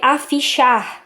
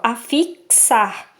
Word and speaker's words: afixar: Isso aqui é a pronúncia do X. Para quem não sabe, aqui tem a pronúncia. Para a pessoa não ler afichar ou afixar, então aqui tem a pronúncia, afixar, certo?